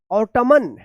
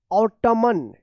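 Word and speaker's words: autumn: ऑटमन या ऑटमन या ऑटम। क्या है? इसका सही उच्चारण होगा ऑटम। क्या होगा? ऑटम। तो यहां पे देखिए आप यहां पे एन साइलेंट है।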